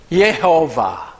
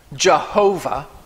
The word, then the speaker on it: Jehovah: thousands of years later jewish scholars inserted the vowels from the divine name adonai which means master or lord so they inserted that